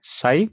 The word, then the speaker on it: psi: यहाँ पे magnetic susceptibility का जो सिंबल है हम उसे साई प्रोनाउंस करते हैं, और साई होता है